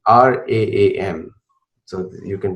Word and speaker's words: Ram: Now, for Americans who don't know how to pronounce, it is Ram, like not Ram, it's Ram, and Raam.